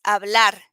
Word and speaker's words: hablar: then the h okay the h doesn't have a sound in spanish huh so in this case it's hablar as you can see